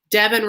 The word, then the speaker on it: Devin: Devin rhymes with heaven.